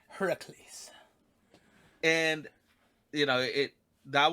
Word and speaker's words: Heracles: figures and it's looking i'm using the proper pronunciation heracles and you know it that was what drew